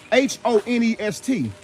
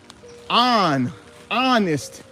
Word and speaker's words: honest: H-O-N-E-S-T. Honest. They don't even pronounce the H.